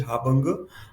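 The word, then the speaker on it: harbinger: इसकी स्पेलिंग देखिए, pronunciation is हाबंग.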